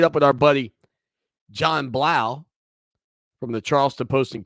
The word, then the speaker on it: Blau: with our buddy john blau from the charleston post and courier follow him on twitter at john j-o-n underscore blau b-l-a-u rhymes with wow not spelled like that